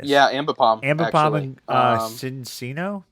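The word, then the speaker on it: Cinccino: and Cincino? How do you say that? Oh, that's Chinchino is fine.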